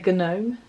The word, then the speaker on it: gnome: don't know if you pronounce the g gnosis probably not you don't say gnome um so gnosis um